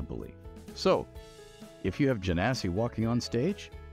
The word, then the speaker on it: Genasi: time around we're doing this janasi that's how it's pronounced janasi janasi to most common folk